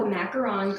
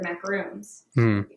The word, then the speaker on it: macaron: So this store sold the macaron cookies, is how I learned they're supposed to be pronounced.